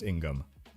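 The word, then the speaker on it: 인검: It's Korean and it's pronounced Ingam, like I just stepped in gum.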